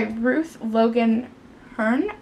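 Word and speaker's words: Ruth Logan Herne: The next book that I got is Refuge of the Heart by Ruth Logan Hearn, I believe is how you say her name.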